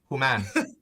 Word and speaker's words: Homan: and i'm here with human did i say your name properly huma yes how are you i i i accept that yeah how do you say it that's easier who man so is your last